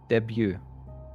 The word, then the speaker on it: debut: do i say that debut uh like like day like it's sunday day and then view debut there you go beautiful